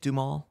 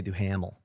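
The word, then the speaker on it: Duhamel: how you say it dumal yeah thank you some people say do hamel oh really yeah because it's spelled like with h yeah i think it's doom i love that guy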